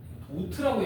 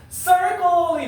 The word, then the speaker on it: circle: 도트라고 얘기하는 친구들이 있는데 이건 일본의 자제입니다. 그래서 circle이 맞아요.